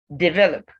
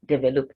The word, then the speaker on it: develop: i it in determine develop same as determine stress on the second level so this word is not develop it develop success success success